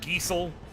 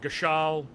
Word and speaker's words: Gil: get more Gil greens I've heard multiple pronunciations of it but I go with Gil I've heard geel I've heard gal but I say Gil appreciate you Shan make